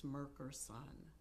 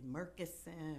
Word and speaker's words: Merkerson: IMDb it's mkon so people always pronounce my name wrong it's Epatha and it's Merkerson it's m e r k r s o n and people say Merkerson they say merus meron but that I I